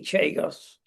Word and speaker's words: Chagos: because it's all tied up with diplomacy, the Chagos Islands, because Donald's got his checkbook out. And one option of many options is to buy Chagos. Chagos, same place, different pronunciation.